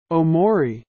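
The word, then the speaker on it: Tomori: stop pronouncing the T when you speak English don't say Identify say identify omori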